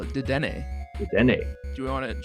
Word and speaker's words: Dedenne: It's a Pokemon podcast starring me, Dedenne. Dedenne? Dedenne? You tell me. I don't know. I would call it Dedenne.